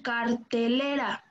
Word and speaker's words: cartelera: Tenemos en cartelera. Vamos a pronunciar la palabra cartelera.